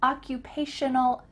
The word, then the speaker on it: occupational: term i'm an occupational make sure that you use shun in the middle of that word occupational therapist or i'm a